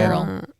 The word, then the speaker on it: Beryl: Barrel. Well, it was a hurricane. Barrel, right? Yeah. Yeah. Barrel. What the hell kind of name is Barrel? So it turns out it's spelled Beryl.